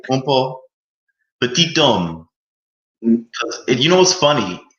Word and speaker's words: Petit-Homme: It was pronounced petty home in American English, petit home. You wouldn't hear that second T. Oh, Yeah, but then as I got more educated on my last name, I just started pronouncing it like in its native derivative, petit homme.